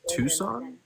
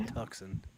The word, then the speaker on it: Tucson: Wait, it's pronounced Tucson. Yeah, it's not Tuxen.